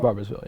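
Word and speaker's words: Barboursville: So you're from, I don't know if I'm going to pronounce this right, but it's Barbersville? Barbersville, yeah.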